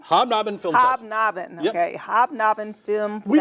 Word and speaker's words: Hobnob: how wonderful is that and this is the habanob hobnob okay hobnob and film we don't like to make it easy to pronounce what we want to do is trip